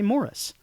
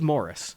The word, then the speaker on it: Maurice: and I know that in the UK they say Morris. Yeah. And in the film they say Morris. So I think this movie is Morris of course, but it's just been really like it's been difficult.